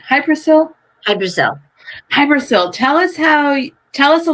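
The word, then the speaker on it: Hy-Brasil: Sometimes it's spelled different ways, but I've heard it referred to as Hybrasil, so that's how I pronounce it.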